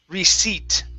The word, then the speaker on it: receipt: So this is receipt. Okay. The P is silent.